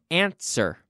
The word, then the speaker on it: answer: ants were no no answer ANSWER Answer do not pronounce the W answer ANSWER Answer number